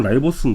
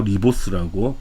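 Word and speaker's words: ribose: 이거 우리가 라이보스 당이라 그래. 라이보스. 자, 예전 이름 뭐였냐면 리보스였거든. 근데 실제 영어 발음은 라이보스인 거거든. 근데 학교쌤이 아무래도 옛날 이름 쓰겠죠. 리보스라고. 근데 실제 이름은 라이보스야. 영어 표현은 라이보스야.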